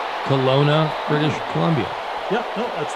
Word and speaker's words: Kelowna: Since retiring, McGinley has resided in Chestnut Hill, Massachusetts, and, I don't know if I pronounce this correctly, Kelowna, British Columbia. Yeah, no, that's right. Kelowna, British Columbia.